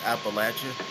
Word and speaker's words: Appalachia: And by the way, it is pronounced Appalachia.